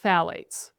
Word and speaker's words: phthalates: I think we actually should pronounce it phthalates. It's spelled P-H-T-H-A-L-A-T-E-S.